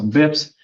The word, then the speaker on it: bps: in a habit so bips so what is it today that is 1.3 dips that's 1.3 like now on paper say basis once but bips is spelled BPS but there's no I in it but bips but use